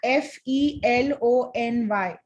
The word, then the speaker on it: felony: सो कैदी को हम प्रिजनर बोलते हैं, और जो यहाँ FELONY फेलिनी बोलते हैं उसको, प्रोनाउंसिएशन फेलिनी, FELONY।